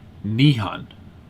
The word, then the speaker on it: Nihon: So that's it's a Japanese dialect for Nihon, which is how you say Japan in Japanese.